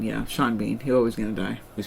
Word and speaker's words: Sean Bean: Sean Bean, yeah. Sean Bean. He's always going to die. He spells his name S-E-A-N, just like his last name is B-A-N, and then pronounces them differently.